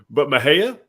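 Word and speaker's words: Mexia: But Mahia, For sure.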